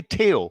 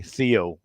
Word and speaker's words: Theo: pronounced by anybody and i say teo because this is the way we say in denmark and also spain actually and but you can also say theo if you like it